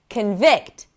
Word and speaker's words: convict: If it's a noun, the stress is going to be on the first syllable. Present. Convict, convict, record, record.